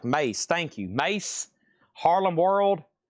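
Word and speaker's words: Mase: Massey is pronounced like Mace.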